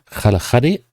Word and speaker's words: Kgalagadi: Uh apparently it's pronounced something like Kalahadi which I guess is uh a local way of saying the Kalahari.